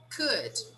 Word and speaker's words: could: Could. We don't pronounce the L, right? We say could.